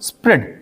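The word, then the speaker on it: spread: इसी तरह एस पी आर ई ए डी इसको पढ़ेंगे हम लोग स्प्रेड। ए साइलेंट होगा।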